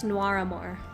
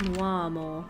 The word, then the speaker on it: Noir Amour: It's Noir Amour. Noir Amour Academy. Oh, I guess if you're British, it's more like Noir Amour.